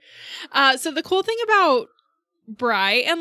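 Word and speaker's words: Brigh: So Bry is spelled B-R-I-G-H, and as much as I can tell, it's pronounced Bry, but I have also heard it as Bree.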